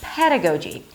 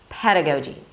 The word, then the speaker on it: pedagogy: It's a P sound at the beginning of the word, so it's aspirated. So it feels like there is a little H after. Pedagogy. Then you drop your jaw for the as in red. The second syllable is D. It's a D sound and then a schwa. Because the D is between two vowels, it's a very light D.